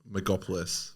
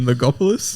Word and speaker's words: Logopolis: Megopolis. Sorry. Fuck me. What is this? Bullshit. You mean Legopolis? Megopolis? Am I saying it wrong? No M. Legopolis. Stop putting an M there.